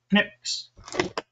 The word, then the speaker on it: Knipex: It's called pronounced Knippix.